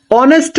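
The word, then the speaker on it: honest: তাহলে এক্সাম্পল হিসাবে অনেস্ট man. Honourable person. তাহলে সেক্ষেত্রে দেখেন অনেস্ট ম্যান। তাহলে এখানে আমরা উচ্চারণ কি?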